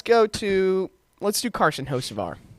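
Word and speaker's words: Hocevar: to let's do Carson hos ofar m Cen hos ofar Ken hos ofar that's right Mike Davis's is to pronounce his name right yeah we've all we've all accidentally pronounced it Ken for some reason uh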